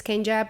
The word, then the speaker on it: Kenya: So I I did tell people I do tell people hey my name is Kenja but they see the Y and then they just pronounce it how it changes.